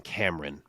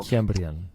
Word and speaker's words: Kiamrian: So I needed John Anik in this one because some guys were saying Kiamrian and some were saying Cameron, which is wildly different pronunciations. That can't be it. So, Kiamrian.